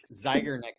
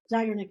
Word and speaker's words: Zeigarnik: Zeigarnik effect. Zeigarnik.